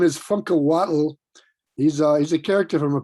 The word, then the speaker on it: Funkahuatl: Ruben, why don't you tell us how to pronounce your name correctly with that amazing middle name? The middle name is Funkahuatl.